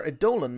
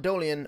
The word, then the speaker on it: Eidolon: going to continue our a dolan mod um i'm pretty sure now the actual pronunciation is a dolan not dolian or idolian it's a dolan so i'm going to